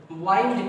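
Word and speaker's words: wind: जब इसका प्रोनाउंसिएशन आप क्या करते हो, विंड करते हो, तब तो ये नाउन होती है। लेकिन जैसे ही इसका प्रोनाउंसिएशन आप क्या करते हो, वाइंड करते हो, जब इसको आप बोलेंगे वाइंड, तो ये तुरंत क्या बन जाती है, वर्ब बन जाती है। देखिए बेटा एक ही वर्ड के दो रूप, कहीं पर तो ये नाउन है, कहीं पे क्या है, वर्ब, बस प्रोनाउंसिएशन का अंतर।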